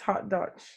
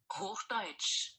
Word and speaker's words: Hochdeutsch: I think it's Hauptdeutsch. Hochdeutsch.